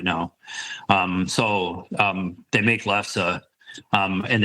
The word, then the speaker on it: lefse: Also, I don't know how much you guys know about lefse. Have you ever heard of it? Say that lefse, lefse, it's spelled Lefse, but it's pronounced lefse.